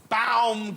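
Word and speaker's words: Baumgartner: said that he shouted it's pronounced B gner what you he said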